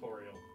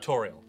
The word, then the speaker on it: Toriel: Apparently it's Toriel, as a pun. Toriel. A play on tutorial.